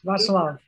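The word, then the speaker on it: Václav: Russian oligarch Pyotr Dezinovich Grigoryev and Polish aristocrat, I don't know how to pronounce it, Vaclav? Yes, Vaclav.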